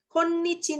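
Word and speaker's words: 今日: Bukan kyo ya itu bacanya ya. Saat ini ya. Perekonomian Jepang saat ini konnichi desu ne.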